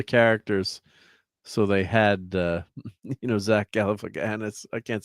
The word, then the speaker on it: Galifianakis: movie of the characters, so they had Zach Galifianakis. I can't say his name. How to say Zach's last name? Galifianakis.